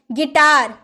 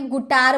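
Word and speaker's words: guitar: गिटार, कभी से आपने गुटार बोला है? गुटार नहीं ना, क्योंकि यू तो साइलेंट है, यू के बाद वॉवल है, वॉवल रहता है तो हम यू का उच्चारण नहीं करते हैं, तो इसे बोलेंगे गिटार।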